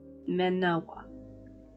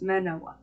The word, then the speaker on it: Manoa: manma because why not Manawa even I can't pronounce that hello no it's Manoa I'm I'm not redoing that